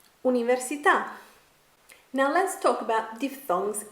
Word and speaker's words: università: bull Paul full oh so how do we pronounce the Italian word for university università università università now let's talk about diphthongs in tell you